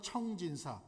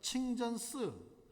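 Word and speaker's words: 清真寺: 한자로 뭐라고 써져 있냐면 중국 발음으로 한국 발음은 청진사 중국 발음은 친전 스 푸를 청자 참진짜장 그니까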